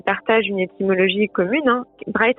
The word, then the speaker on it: Brigid: Bride, ça s'écrit Brigide, B-R-I-G-I-D.